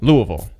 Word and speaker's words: Louisville: he is also from Kentucky but he's from Louisville Louisville yeah as we learned to pronounce yeah yeah I'm from an area worse